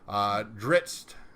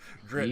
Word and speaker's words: Drizzt: It's like isn't, only with double Z's instead. It makes sense. But I pronounce the double Z's as in pizza. So. Oh, pizza. Drizzt.